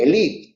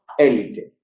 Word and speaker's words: elite: Pues elite debería decirse elite, pero ese acento en francés no es un acento de fuerza, pero se escribía con el acento del francés y entonces la mayoría de la gente lo pronunciaba como esdrúculo y hoy decimos élite.